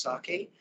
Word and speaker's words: psake: in 2008 there was psake which is pronounced sake and that is a